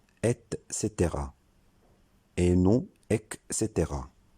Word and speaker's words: et cetera: doute pas c'est que l'expression et cetera se prononcent est caetera et non avec ses terrains cette expression signifie